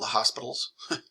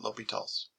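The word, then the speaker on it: L'Hôpital: Obviously, a lot of people will call it La Hospitals, but yeah, you kind of pronounce it L'Hopitals.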